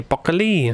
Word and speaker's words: broccoli: So they would say broccoli. Stress the lee.